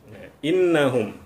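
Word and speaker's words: إنهم: Jadi cara bacanya bunyi hamzah atau alif langsung masuk ke bunyi nun, kemudian nun sendiri memantulkan bunyinya sendiri, innahum.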